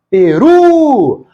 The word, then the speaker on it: Peru: Peru! A palavra tem 2 sílabas e a mais forte é a última. É uma palavra oxítona.